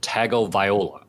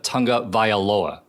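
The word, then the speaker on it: Tagovailoa: for the 27th time you failed to pronounce tua's last name correctly you said tago Viola uh because that's his name bro yeah this his name bro no it's not tago Viola it's Tua Tonga vioa oh I see like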